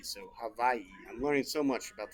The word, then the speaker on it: Hawaii: W is the actual pronounced with a V. So Hawaii.